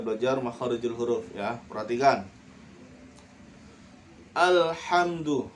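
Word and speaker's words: الحمد: Alhamdu. Nah, bacanya alhamdu, jangan ale. Nah, salah ya. Karena ini bukan ale.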